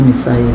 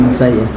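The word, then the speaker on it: Messiah: Iya bacanya Messayah. Bahasa Inggrisnya Messayah.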